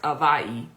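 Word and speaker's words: Hawaiʻi: point it was like oh wow because like Hawaii h a but it's you know pronounced is actually pronounced avayi and then Haiti which is pronounced right and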